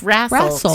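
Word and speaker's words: rassle: Is rrestle an actual word or is it just wrestle but pronounced differently? R A S S L E. No T, just rrestle.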